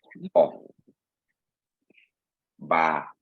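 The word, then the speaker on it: ɔbaa: Oba, Let me make this easy for you. O. Ba. Oba, Oba, Oba.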